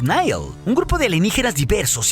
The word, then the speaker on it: Nihil: Pero con esto también se nos presentó a los nuevos villanos alienígenas que su nombre se pronuncia como los Nihil, un grupo de alienígenas